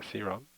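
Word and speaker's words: Serum: 한국에서는 보편적으로 세럼이라고 그러는데 실질적으로 영어 발음은 시럼입니다. 시럼.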